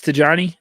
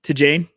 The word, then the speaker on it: Tidjane: We'll call him no, okay, it's Tidjane. Tidjane. Dang it. We practiced like 15 different pronunciations, and then we listened to someone say, he looks like beginning of the year.